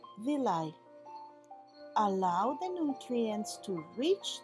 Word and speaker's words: villi: intestinal wall small hairs called villi this is pronounced villi allow the nutrients to reach the blood which